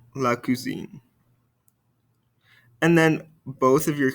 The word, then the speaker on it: cousine: And listen very carefully and repeat very carefully because there is a pronunciation difference in between these two. Répétez-moi, le cousin, la cousine. Le cousin, la cousine.